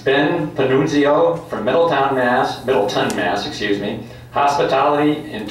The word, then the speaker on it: Panunzio: Just to speak about Ben a little bit, Ben Panunzio actually is the pronunciation, but Ben came to us from Masco